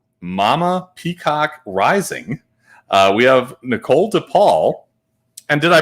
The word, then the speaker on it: Nichole DePaul: We have Nichole DePaul. And did I pronounce that right, Nichole?